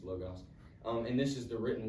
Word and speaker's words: logos: I'm not sure where they are in the Bible, but number one is logos, or logos. That's what it's spelled, but I think it's logos.